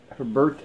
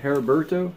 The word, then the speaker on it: Heriberto: comics and then for I'm always butchering his name I keep saying it wrong I feel bad and it's Herbert Heriberto Herbert oh I'm sorry